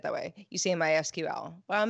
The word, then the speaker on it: MySQL: that's again a sequel I have always said SQL and my sequel because it's more words with my sequel and it felt easier but I'm wrong my sql's technical doc says it should be MySQL there is no consensus